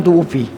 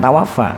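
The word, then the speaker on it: تُوُفِّيَ: Gini, insanun tufi, ada seorang meninggal dunia. Insan maksudnya orang meninggal dunia. Tufi bacanya, bukan tawafa. Kalau yang tawafa Allah, kalau manusia tufi, Allah wafatkan manusia.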